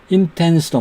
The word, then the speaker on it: intense: intense도 마찬가지입니다. intense 여기에 뒷음절에 액센트가 있죠. intense intense, 네. 뒷음절에 액센트가 있기 때문에 N 다음에 T가 오는 경우에는 생략한다 그랬는데 이 경우는 생략을 안 하는 겁니다.